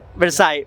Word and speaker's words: Versailles: I don't know how to pronounce it in French. Versailles.